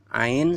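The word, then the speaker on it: ع: Ya, halqiyah ini yang ketiga, keluar dari kerongkongan, keluar dari tengah-tengah kerongkongan yang tepat. Nomor 3 mana? Nah, ini ain sama ha, ya.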